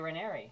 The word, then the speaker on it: Ranieri: Ranieri, six letters, and it rhymes with canary. Exactly. But there's an even, it actually rhymes with, it. Ranieri.